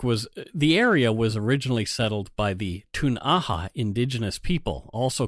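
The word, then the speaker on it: Ktunaxa: So Cranbrook was originally settled by the Tun'aha indigenous people, also called Kootenai, as is the extended local area, and the English folk call them the Kootenai, because that's how they mispronounced Tun'aha, I guess.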